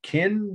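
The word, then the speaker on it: Qin: first slide for tonight kin dynasty soldiers from emperor's tomb ken is spelled at least in stock said q-i-n that's the name of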